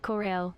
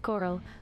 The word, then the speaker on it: Corral: what is Corral oh Corelle it's not actually pronounced like that it's pronounced Coral like the beautiful underwater reefs it's a bar downtown